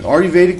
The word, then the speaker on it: Ayurvedic: wrong but it sounds a little bit like it's spelled re Vedic medicine Ayurvedic medicine is a type of medicine derived from